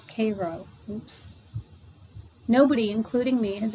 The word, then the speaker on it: Cairo: command post at cairo pronounced then and now as cairo oops nobody including me